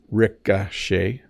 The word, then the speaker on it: ricochet: than you might expect first of all Ricochet Ricochet so the O has more of an AA sound Ricochet and then the